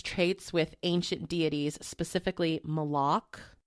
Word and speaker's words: Moloch: with ancient deities specifically moloch moloch that's what i said moloch moloch moloch okay there you go the emphasis on the wrong syllable exactly moloch and ball